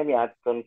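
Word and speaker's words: مِائَةُ: Yang mi'a itu bacanya mi'atun kailin atau mi'ah kailin ya? Mi'atu. Kalau kita mau sempurnakan harokatnya, kita bilang mi'atu.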